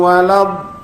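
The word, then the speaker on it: الضالين: Waladin bukan lillin giril magdubi alaihim waladin mana ulnya ya, ghairil maghdubi alaihim waladin pegang lamnya, tekan kebawah.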